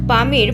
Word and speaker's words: পামির: পৃথিবীর সবচেয়ে উঁচু ভূমির নাম হল পামির মালভূমি। স্থানীয় ভাষায় এর উচ্চারণ হচ্ছে পুমির যার অর্থ সূর্যের পা।